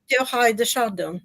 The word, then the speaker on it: Teilhard de Chardin: I think it's from Teilhard de Chardin. Is that all right? Is that the way it's pronounced, Charles? Teilhard de Chardin. Teilhard de Chardin, yeah.